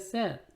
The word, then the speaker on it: said: Say, said, said said라고 읽습니다. say 이 발음이 안 납니다.